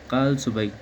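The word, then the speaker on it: Kalsubai: अगर हम बात करें highest peak of the northern Sahyadri की तो ये आता है कल सुबह।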